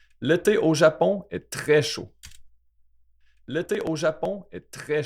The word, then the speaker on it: chaud: See, we don't pronounce that D there. The AUD is O.